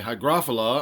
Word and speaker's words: hygrophila: I spoke about my temple plant here, my hygrophila, I have found out is how it's pronounced.